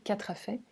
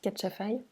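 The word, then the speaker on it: katrafay: C'est le groupe des sesquiterpènes avec lentisque pistachier, camomille matricaire et catchafai, ou catrafait. En malgache, on prononce catchafai.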